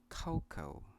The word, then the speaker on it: cocoa: I think this is very easy, but I think some of you pronounce this word cocoa, and I did too when I was a kid. So this word is pronounced cocoa.